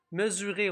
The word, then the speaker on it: mesurer: Mesurer, on a le petit mot dans le grand mot mesure. On a le S entre deux voyelles qui fait Z.